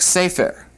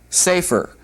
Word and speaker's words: sefer: The word for book, sefer, sefer. All right, notice that it's got the accent on the first syllable, and then also notice that it's got a segol under the second letter.